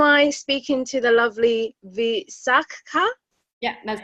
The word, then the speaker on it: Visakha: So my first name is Visakha.